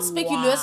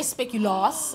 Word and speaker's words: speculoos: Well, it's spelled speculoos, but you say speculoos. I say speculoos.